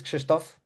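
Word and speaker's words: Krzysztof: So, my name is Kristoff. A little bit hard to pronounce, but it's almost like the English Christopher.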